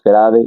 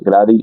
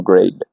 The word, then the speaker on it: grade: Muchos casos el inglés es parecido al francés porque no se pronuncia la última la última letra. Lo puedes notar aquí que no es grade grady, sino grade.